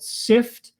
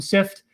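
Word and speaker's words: Cypht: do so there's one called sift i think it's spelled c y p h t or something like that um sift um and that looks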